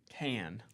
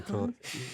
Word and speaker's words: Cannes: Can. I mean, people say Cannes, right? In France? No, I think they say can. I think people that don't know how to pronounce it say con.